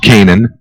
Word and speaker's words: Canaan: and Ray came in like the land of Canaan in the Bible spelled the same way as well see a n a a n it's an interesting first